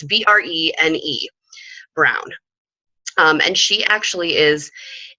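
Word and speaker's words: Brené: It's Brene Brown.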